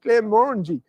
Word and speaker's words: Glenmorangie: the world, which is Glenmorangie, or you can argue how you pronounce that. My mate Paul from Glenmorangie will be on to me now. You said that wrong. It's Glenmorangie. And I'm like, I don't care.